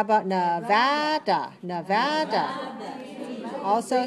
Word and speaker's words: Nevada: How about Nevada?